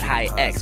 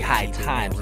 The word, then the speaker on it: HighX: Last week in Elijah Wan's review, I accidentally said HighX, but it's actually High Times. It's spelled HighX, but it's High Times by Jeff Skigh.